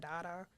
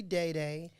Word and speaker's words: DayDay: my name is not Dada because those are two things that I hate answering so it's technically DayDay and my name is SP da y I don't know but it's a long a it actually has the